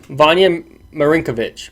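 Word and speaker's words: Vanja Marinković: it's actually not that it's actually not that hard of a ninja pronounced Vanya Marin kovitch Marin kovitch Vanya Marinka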